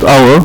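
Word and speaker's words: hour: لو بصينا على كلمة اور هنلاقي ان كلمة اور فعلا بدأ بالاتش ده حرف ساكن، ولكن اللي اتنطق مين؟ اللي اتنطق الاو، الاتش سايلنت، مش كده؟ الاتش حرف لا ينطق، فاللي اتنطق الاو، وبالتالي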